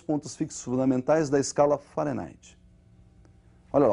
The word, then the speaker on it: Fahrenheit: Para eles, lá eles pronunciam Fahrenheit e nós vamos pronunciar aqui do modo aportuguesado, ou seja, nós vamos falar de Fahrenheit mesmo.